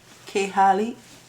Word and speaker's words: Klaiyi: to another hair review and today's sponsor is C hey hair that's how it's pronounced K har you guys know fun thing about this company